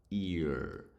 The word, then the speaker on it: ear: отже ear означає вухо читається як ear буква р в кінці не українська р а більше така р г г р р р Вакарчука в сторону Вакарчука